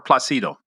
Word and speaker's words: Placido: Let's talk about the origin of your name though, because Placido, is it Placido or Placido? Well, the Italian pronunciation is Placido.